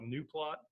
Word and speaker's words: gnuplot: this week so uh the G on Gano plot I pronounce some people call it new plot I don't care how you say it just don't tell me how to say it I think it's j